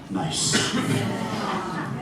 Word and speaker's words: Gneiss: And it's spelled Gneiss, but the pronunciation is nice.